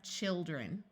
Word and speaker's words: children: One important exception where the I does not have a long I sound is the word children. Notice when you have one child, it has a long I sound. But as soon as you make it plural, the I becomes a short I sound, and we have children.